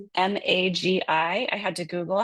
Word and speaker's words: MAGI: M A GI. I had to Google how to say it. The internet says you're supposed to say MAGI.